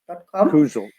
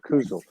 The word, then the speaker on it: Kusel: Kusel. And I'll yeah, get the pronunciation right from here out. I mean, I've been saying Kusel, but Kusel, Kusel.